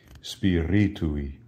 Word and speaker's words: Spiritui: Notice the accent is on the I following the R. Ri. Spiritui.